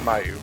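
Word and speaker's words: Myau: That was Meow the cat, or some people pronounce it Mayu.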